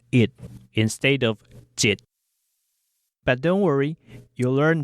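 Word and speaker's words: 一: The number 1 is pronounced jit in a colloquial setting.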